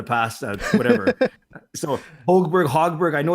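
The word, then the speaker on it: Högberg: didn't even know that you're supposed to pronounce the g in his name i've been calling him holberg for the past uh whatever so holberg hogberg i know it's a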